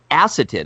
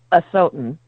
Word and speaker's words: Asotin: Nearly 40 years later, Acetin, is that the right? How do we pronounce acetin? Acetin? It's Asotin.